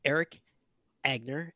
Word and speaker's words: Erik Angner: we are joined by Eric agner did I say it correctly there's two ends in there and I prob you